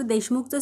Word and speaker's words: देशमुख: शब्दात शेवटी आहे आणि जसं की मी सांगितलं शब्दात शेवटी व्यंजन आल्यास शेवटी अ चा उच्चार होत नाही म्हणून आपण के एच च्या पुढे ए लिहिणार नाही मग देशमुखचं स्पेलिंग काय तयार झालं